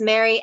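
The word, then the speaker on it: Mhairi: And it's Mary, Mhari is her first name, McFarlane.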